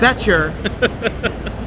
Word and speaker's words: Boettcher: Boettcher, silent O, as opposed to my name, which is a silent E in the beginning, but we'll move on.